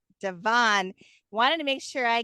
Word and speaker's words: DeVane: How did you pronounce your last name again? DeVane. DeVane.